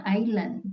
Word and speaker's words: island: itu udah benar ya Island tapi s-nya enggak dibaca Island Iya a ya jadi